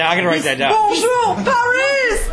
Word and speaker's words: bonjour: Bonjour Paris! He says it like an Italian. He says bonjour. It's like, no, it's bonjour. That's close enough, man. No. With an English accent. An English accent. Bonjour Paris!